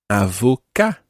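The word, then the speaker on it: avocat: lawyer a lawyer is Avoca Avoca Avoca sounds very like the English word advocate and Avoca an Avoca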